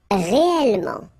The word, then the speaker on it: réellement: Okay, so remember when you get this here and then it's followed by two consonants and then they are the same consonant like here, the sound of the changes and it's open, it's e. So that's the reason why you get this réel.